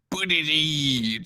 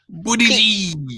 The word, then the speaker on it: Buttigieg: Okay, like phonetically, the way we spelled it out in one of the hot chats I'm in on Facebook was like it was B and then U with the line right above the U, and then D, and then I, and then J, and then like 5 or 6 E's, and then another J.